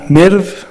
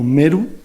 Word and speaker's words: Merv: Y en el Jorasán, bueno, se estableció una colonia de 50,000 árabes enviada por el califato de Damasco en Merv o Meru, según la pronunciación, que está en el actual Turkmenistán.